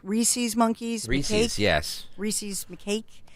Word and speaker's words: rhesus: Rhesus monkeys?